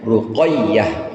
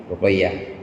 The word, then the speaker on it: Ruqayyah: Dan ya tasdid. Jadi bacanya Ruqayyah. Ya tasdid. Ruqayyah.